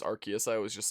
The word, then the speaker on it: Arceus: pokemon legends arceus game yeah i know it's pronounced arceus i always just say arceus but as me dlc or something i still